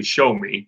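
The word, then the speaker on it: Xiaomi: looking into is the it's printed spelled X i/o am I or X I so basically show me is how it's pronounced but the showing drones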